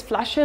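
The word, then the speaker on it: Flasche: also see here that we don't pronounce every letter it is flasher not last huh so we see a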